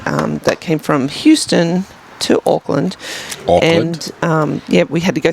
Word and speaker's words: Auckland: Auckland? Did I say it wrong? Auckland. Auckland. Auckland. It's like O for awesome.